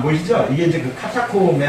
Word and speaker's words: 카타콤: 카타콤베인데 원래 카타콤베인데 영어식의 발음으로 그냥 카타콤 그러잖아요. 근데 그 카타콤이 어떻게 생겼냐면 잘 안 보이시죠? 이게 이제 카타콤의 한 통로예요.